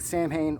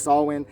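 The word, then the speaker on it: Samhain: got up to a Sam ha or sawin for the people who know what how it's supposed to be pronounced I know most people say sam ha I know it's swin I like saying Sam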